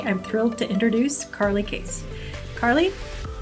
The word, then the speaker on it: Cais: my name is carly case and my last name is spelled a little weird it's c-a-i-s instead of case but it's pronounced the same i've been working in